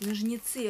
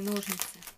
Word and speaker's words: ножницы: Вы знаете, что на самом деле правильно говорить ножницы, а не ножницы?